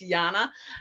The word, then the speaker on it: Jana: i say it's it's it's spelled jna but it's pronounced yana um i'm well thank